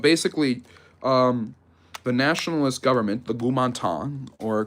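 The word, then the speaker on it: Kuomintang: But basically, the nationalist government, the Gumantang, or Kumantang, as the Westerners usually pronounce it, is on shaky ground.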